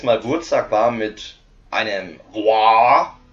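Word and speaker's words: Waaagh: Insofern behaupten wir jetzt mal, Wurzak war mit einem War, also das heißt nicht Wag, es heißt War, also War, wie War ausgesprochen, Krieg, heißt wahrscheinlich auch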